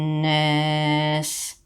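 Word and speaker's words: النَّاس: On va pas lire nas comme ça, mais ici, on a un noun accentué, noun avec shidda, le petit 3 à l'envers, donc il y a runna. El runna, qui est un son nasal. On le fait. Nas.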